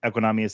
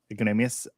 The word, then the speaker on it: Equanimeous: I did think it was cool about Equanimeous St. Brown. I didn't say his name right. It's okay. Equanimeous.